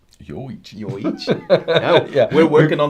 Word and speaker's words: Yoichi: Miyagikyo is yo. And Yoichi is also yo.